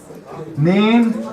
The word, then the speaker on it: nin: Neen is nine. The difference between this neen and German is nine and neen. German is N-E-I-N, and Alsatian is N-I-N or N-I-E-N. Both of them are acceptable.